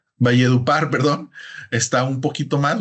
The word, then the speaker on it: Valledupar: ver que por Val deur creo que se pronuncia valledupar Perdón está un poquito más O sea podemos